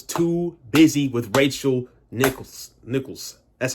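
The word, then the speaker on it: Nichols: Jimmy Butler was too busy with Rachel Nicholls Nicholls that's how you say her name Nicholls man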